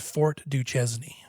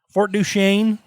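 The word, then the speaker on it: Duchesne: Here in the UN basin at Fort Duchesn lives aliens. It's like no Fort Duchaine. Uni Basin. That's how we pronounce it here in Utah.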